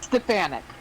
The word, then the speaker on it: Stefanik: How do you pronounce it? Elise Stefanik.